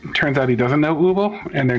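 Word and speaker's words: Übel: I don't know if their names really sounded all that, because like they pronounce her name Ubel, but at least say Warble is how they pronounce the other one.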